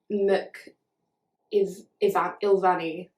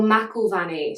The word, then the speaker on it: McIlvanney: by two people, sorry, got confused, by William McIlvanney. William McIlvanney. I'm so sorry if I'm butchering that. Wait, let me look up how to say it. Oh, McIlvanney.